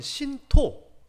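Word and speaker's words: 神道: 살펴봐야 돼요 자 일단은요 일본의 전통 종교인 신토고 발음을 하는데 한문으로 보면 신도라고 합니다 우리가 알고 있는 신사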